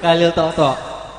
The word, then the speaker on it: Khalil Toto: Orang-orang baca Bib jadi kayak Katolik. Kebacanya kayak sekilas kayak Katolik gitu. Padahal Khalil Toto enggak ada O sama I-nya.